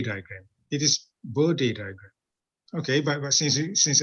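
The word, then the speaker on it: Bode: in fact is it is you're supposed to pronounce this as body diagram it is body diagram okay but since since everybody is is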